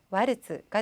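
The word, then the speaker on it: ワルツ: 이 츠 발음 주의하셔야겠죠. 자, 일본어로는 와르츠가 됩니다.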